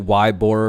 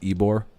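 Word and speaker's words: Ybor: to tampa oh yeah it's about like wide bore or some like that but pronounced ebore follows it away and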